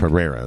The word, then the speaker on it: Pereira: Pereira, there we go. I'm fucking notorious for fucking that shit. Like, why is he fighting him, man? Like, it's not like I understand that, you know, Pereira's definitely got his obvious flaws and weaknesses.